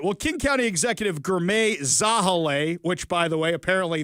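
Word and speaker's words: Girmay Zahilay: All right, well, King County Executive Gourmet Zahale, which, by the way, apparently that's the correct pronunciation for that one, along with other officials,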